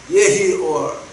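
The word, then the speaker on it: יְהִי אוֹר: 예히올 라고 이제 우리가 발음을 합니다.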